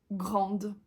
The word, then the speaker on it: grande: masculine singulière et plurielle mais quand on ajoute un e à la forme féminine on le prononce donc grand grande et c'est le cas